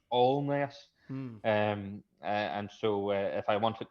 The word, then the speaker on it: Alness: i i pronounced uh allness a-l-n-e-s-s uh and was very quickly uh told by the the brothers here that it's not pronounced alness it's pronounced all mess and so if i